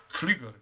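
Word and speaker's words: Pflüger: O Flieger, ele era um fisiologista alemão, se escreve P-F-L-U-G-E-R, Flieger, não é?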